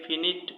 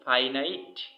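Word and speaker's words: finite: আমরা ভুল করে অনেকে একে ফিনিট উচ্চারণ করি, কিন্তু উচ্চারণটা কি হবে? উচ্চারণটি হবে ফাইনাইট অর্থ সমাপিকা ক্রিয়া এবং নন ফাইনাইট অর্থ অসমাপিকা ক্রিয়া।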